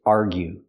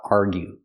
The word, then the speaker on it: argue: First, let's talk about argue. Argue. Make the U sound like you. Argue. Example, they are arguing.